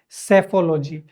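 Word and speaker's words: psephology: तो ये सारी स्टडी या जो एनालिसिस होता है उसको हम लोग बोलते हैं सेफोलॉजी। और जो व्यक्ति यह काम करता है उसको बोला जाता है सेफोलॉजिस्ट। यहां पी साइलेंट है।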